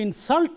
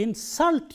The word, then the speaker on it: insult: This is an insult to me. But if we want to use this word as a verb, I do not want to insult you. I do not want to insult you. Stress is on the second syllable, because it is used